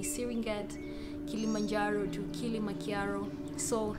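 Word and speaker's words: Serengeti: many places around gorongo speaking of serenget is supposed to be syringet kilimanjaro to killing machiaro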